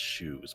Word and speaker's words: Xeoz: I know it's pronounced shoes, but isn't it spelled differently?